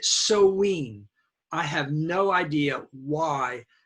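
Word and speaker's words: Samhain: scotland wales okay um the celtic people had a holiday named s-a-m-h-i-m but we do pronounce it like that we pronounce it so ween i have no idea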